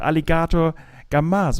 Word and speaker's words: Alligator Gozaimasu: never know if i if i should say that the last you as well it's you don't say it right it's called aligato gamas but not kamazu thank you for